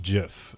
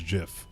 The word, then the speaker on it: GIF: word gif is pronounced jiff the inventor creator the originator of that word himself has said that it is jiff so listen to me